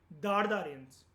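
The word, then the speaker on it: Dard Aryans: इसकी प्रोनाउंसिएशन होती है दार्द आर्यंस।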